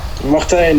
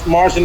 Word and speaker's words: Martijn: So, how do we pronounce your name? Martin? Matijn. Martijn. Like that? Matijn, yeah. Martin is also fine.